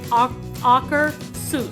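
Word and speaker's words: Akershus: one of our trips the way you pronounce it is aerus and and she actually went to the Norway Pavilion and asked the lady from Norway yes how you pronounce it so it's like AER and then like Dr Seuss so if you've ever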